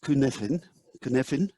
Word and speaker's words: Cynefin: He's a Welshman, and he's given his framework a very strange Welsh name, and it's actually pronounced Cynefin, and it's a sense-making framework.